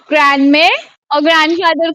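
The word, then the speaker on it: grand-mère: It's called ग्रैंड मेर। ठीक है। ग्रैंड मेर, ऐसे बोलेंगे आप, ग्रैंड मेर।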